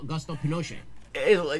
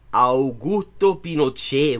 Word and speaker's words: Augusto Pinochet: Was replaced with General Augusto Pinochet. God, could you? He manages not to pronounce a single part of that name correctly. Augusto Pinochet, weón.